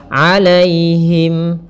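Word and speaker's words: عليهم: pada lafal alaihim alaihim di sini ada ya sukun yang didahului dengan fathah ini kita namakan dengan bacaan Lin maka lembut dalam pelafalannya alaihim alaihim Giri Kemudian pada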